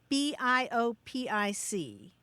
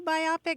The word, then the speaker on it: biopic: a lot of satisfaction okay so the word b i o p i c yep right meaning what meaning um a movie